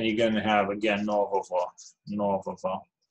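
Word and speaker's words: нового: And the same case if you have an animate noun, then you're going to have again novovo, novovo. And it's pronounced vo, it's not go.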